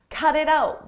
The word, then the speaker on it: cut it out: In American English, when a T comes between vowels, we change that to a d, a very soft D. Cut it out, cut it out. And I pronounce all 3 as one.